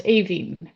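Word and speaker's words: Aoibheann: It was horrible, but I have a colleague who's got an Irish name, and you pronounce it as Aveen, but you write it as Iobian.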